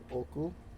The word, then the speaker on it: 多く: finger at regular intervals, the word oku would have 2 beats, oku, while oku would have 3 beats, oku. In fact, we can literally say that the latter is a 3-syllable word.